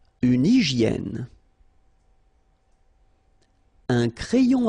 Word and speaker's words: hygiène: Une hygiène. So remember, we've got this Y here, vowel, and it's pronounced like E, okay? Hygiène. H doesn't exist, H doesn't exist in French, so hygiène.